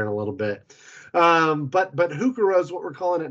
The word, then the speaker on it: heuchera: The purple Pallas heuchera, which is a hybrid heuchera or heuchera, you've heard it pronounced.